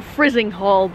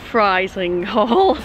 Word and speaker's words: Frizinghall: I've been calling this station Frizinghall, but according to the announcements on the trains, it may actually be pronounced Frizinghall. Frizinghall's got two platforms.